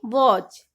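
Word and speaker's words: watch: रखेंगे सीधा ही बोलेंगे वॉच या फिर स्नैक्स पैच या फिर मैच टी के बाद अगर है तो टी को नहीं बोलेंगे सीधा ही बोलेंगे लिसन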